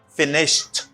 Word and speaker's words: finished: Like the verb to finish, the past participle of the verb to finish is finished t sound. Ed pronounced as t.